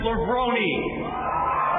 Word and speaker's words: Levrone: a renaissance man and he says the correct pronunciation of his name is Kevin lebroni come on out babe